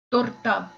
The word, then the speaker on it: торта: Последнее слово – торта, плотва. Помним, что букву О мы произносим как О, а не как А.